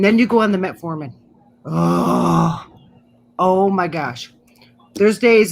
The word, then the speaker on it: metformin: medicine is horse so what now it's like metamorphin it's a diabetic medicine i'm probably saying it wrong metformin yeah that stuff is horse and and when